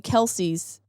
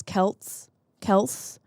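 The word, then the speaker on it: Kelce: I learned something that the Kelseys, their last name actually was Kels, but their father got sick of correcting people on the pronunciation, so he just let people call them Kelsey.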